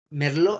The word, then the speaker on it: Merlot: este merlot cabernet franc merlo este mal ve y petit verdot si otra vez cabernet sauvignon cabernet franc merlo 100 merlot que no se pronuncia malbec y a veces